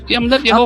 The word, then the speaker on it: Yehova: Bagaimana cara membacanya yang benar? Manakah cara yang benar ? Cara yang benar adalah Yehova. Oke, bisakah nama Yehova diubah menjadi Tuhan?